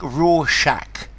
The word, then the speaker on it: Rorschach: figure out the pronunciation it goes like raw Shack thank you i' I've